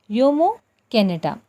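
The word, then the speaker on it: Jomo Kenyatta: as jomo canada but we are we are pronouncing it as yomo canada yomo canada was a kenyan anti-colonial activist and politician and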